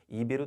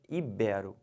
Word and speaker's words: ibero: libera e não libero-americano o erro comum o pessoal fala muito é chamar isso aqui de proparox e falar ídolo ibiro tá errado o certo é ibero finalizando essa palavra aqui